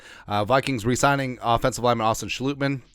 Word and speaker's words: Schlottmann: resigning offensive lineman Austin saluteman it's a Dutch pronunciation per Source a schlutman started four